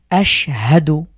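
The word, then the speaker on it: أشهد: শাহাদার প্রথম শব্দটি হলো আশহাদু আমি সাক্ষ্য দিচ্ছি এই শিনের উপরে যে সুকুন আছে এইজন্য আমরা হরকতের সাথে মিলিয়ে পড়ছি আশহাদু আচ্ছা এরপরে আমরা দেখছি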